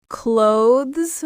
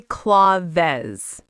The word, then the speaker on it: clothes: Clothes. One sound only. Cloths. Don't say claws.